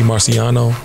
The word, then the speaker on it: Marciano: up now this controversy because I guess Rocky Marciano Rocky Marciano I'm gonna say it properly held the record